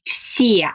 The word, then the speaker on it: все: So the word все, I pronounce like все, все. So pay attention on my lips. They are straight.